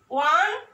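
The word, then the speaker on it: one: যেমন আই স এ ওয়ান eyed man. ওয়া, হ্যাঁ, দেখো ওয়া এর মতো উচ্চারিত, ওয়ান আইড ম্যান।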